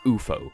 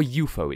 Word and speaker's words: UFO: out there and sincerely pronounce it Bufo because it's or UFO is it it's three letters as UFO it's an initialism not an acronym because for the uninitiated an acronym is where you pronounce like a word and initialisms where you list the letters true story I have